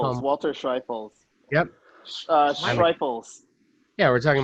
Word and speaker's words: Schreifels: Walter Schreifels.